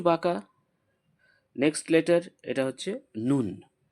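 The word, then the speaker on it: ن: Next letter এটা হচ্ছে নুন।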